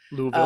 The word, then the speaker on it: Louisville: Louisville. Um, I'm told the closer you get to it, the fewer syllables there.